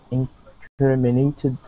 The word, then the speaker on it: incriminated: incriminated yeah incriminated so our accent is right here on CRI on incriminated incriminated there you go